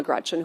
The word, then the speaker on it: Gretch: named after my grandma Gretchen, who I adore. It's funny, though, because she always said, never let anyone shorten your name. Don't let people call you Gretch because it rhymes with wretch.